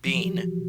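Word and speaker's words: Bin: bean b-i-n it but it's pronounced bean because that's the japanese pronunciation and player two is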